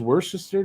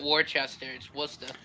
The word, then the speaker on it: Worcester: you might be surprised w-o-r-c-e-s-t-e-r you got it right worcester yeah he got it right everyone's pronounced that war chester well that's like worcestershire sauce but it's worse there i've been i i